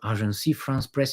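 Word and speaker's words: Agence France-Presse: of agency will you will you pronounce a Arc France press instead of agency. Arc rhymes with balance.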